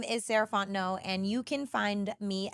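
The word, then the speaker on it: Sarahfont: again my name is saraon and you can find me at Ms sarant no so MSS r a h f o n t n o t the t is silent um that's me on all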